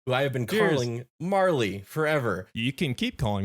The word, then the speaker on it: Marle: so I took away morl but apparently it's more commonly pronounced Marley so uh little fun